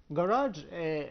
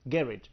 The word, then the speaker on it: garage: Garage has another pronunciation which is garage. So Garage, we can pronounce it in two different ways.